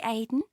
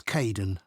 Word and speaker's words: Kaden: Hi, Aiden. Uh, it's Kaden.